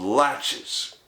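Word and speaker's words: laches: Court's ruling is a Doctrine called latches which you pronounce like latches on a door and which means neglective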